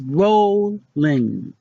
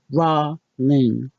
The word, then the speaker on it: Rowling: Rowling add in JK what we've been saying is roll Ling how to actually say it is raw Ling ro h li ng did you have a difference roll Ling rowl ing vs.